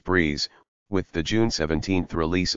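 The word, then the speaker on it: BRIIZE: And it hopes to continue expanding its fan base, known as RIIZE, pronounced Breeze, with the June 17th release of RIIZING, the first mini-album.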